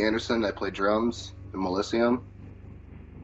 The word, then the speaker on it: Mellisium: It's Mellisium.